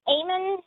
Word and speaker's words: Ammon: Okay, yes, I can hear you, but please pronounce it Ammon. That's how you're supposed to pronounce it.